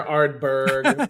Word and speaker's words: Ardbeg: It's 6 letters and it sounds the way it's written. That's right. Totally. That helps. Oh, that too. It's not, you can pronounce it. It's not, for lack of a better word, gibberish. Yeah, I hear all the time. I hear Ardbeg. Yeah, but it's close enough.